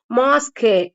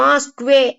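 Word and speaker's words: mosque: sound தான் வரும் கற்றார் அதே மாதிரி மாஸ்க் அப்படிங்கறது வந்து மாஸ்கே அப்படிங்கிற ஒரு பிரெஞ்சு வேர்டு அது பிரெஞ்சு அரபிக்ல இருந்து வந்ததுதான் ஆனா இங்கிலீஷ்ல அப்படியே பிரெஞ்சு வேர்டை எடுத்துக்கிட்டாங்க அதனால இங்க வந்து மாஸ்க்வே அப்படின்னு சவுண்ட் எல்லாம் வராது இங்க வந்து க சவுண்டோட நின்னுக்கும் மாஸ்க் மாஸ்க் மாஸ்க்வே அப்படின்னு வராது இதெல்லாம் வந்து எக்ஸ்பப்ஷன்ஸ் ஓகேங்களா இது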